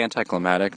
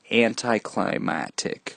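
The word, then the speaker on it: anticlimactic: in a way very anti-climatic do you know is it climactic climax anti-climatic right that's the right pronunciation people say anti-climactic I'm pretty sure it's climactic climactic anti-climactic yeah anti-climatic ending to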